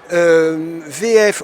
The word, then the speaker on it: WE-EF: on va revenir un peu sur la maison vf en fait c'est w e tir fff et nous dit on le prononce allemande cvf donc vous appartenez à une